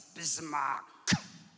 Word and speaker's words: Bismark: school and and they they can never say it right it's Bismarck and they say that